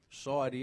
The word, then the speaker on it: Cyd: as well and um this one's called sidy it's spelled Cyd and I'm very proud